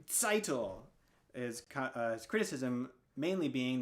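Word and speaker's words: Tzeitel: to pronounce the name seitel is his criticism mainly being that he often mispronounced or often would not enunciate the t at the beginning of the name all that much which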